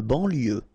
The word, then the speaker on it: banlieue: De banlieue. Okay, final E not pronounced. So IEU, IE, L, lieu, banlieue. De banlieue.